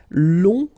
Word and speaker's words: long: Okay, so long, remember you don't pronounce the final G, will become longue. Okay, so phonetically it's longue, g, longue.